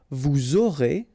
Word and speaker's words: vous aurez: final S not pronounced, and then you make the liaison, vous aurez, a Z at the end here, et, aurez, liaison here, vous aurez, ils auront, final T not pronounced, elles auront.